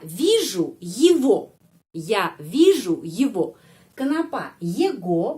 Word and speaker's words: его: Его bacanya его. Karena sudah ada tradisi, ya.